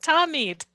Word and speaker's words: Tamid: Adrian's correcting my pronunciation. Adrian, will you unmute and correct it, please? Tamid, excuse me, I knew that. Tamid.